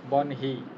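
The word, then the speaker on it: বহ্নি: গঠনগত কারণে তো এখানে মানে নটা পরে আসে, কিন্তু উচ্চারণের সুবিধাতে নটা আগে আনতে হবে। নটা পরে আসবে। মানে যখন আপনার ভেঙে লিখতেছেন বা গঠন করতেছেন তখন তো নটা পরেই আসতেছে, কিন্তু উচ্চারণের সময় আগে আসতেছে। বনহি, আগে তো উচ্চারণটা নটা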